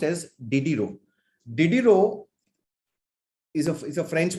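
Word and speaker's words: Diderot: was diddy ro a dieder it is called diddy ro it is pronounced as diddy ro diddiro is a french pronunciation did you know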